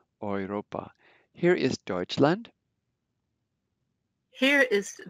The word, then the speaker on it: Europa: Notice the UR is pronounced like as if it were OY, like boy, Europa.